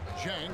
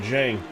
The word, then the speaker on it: Zhang: Okay, that's how you say it, Zhang. I've been saying it all wrong. It's Zhang.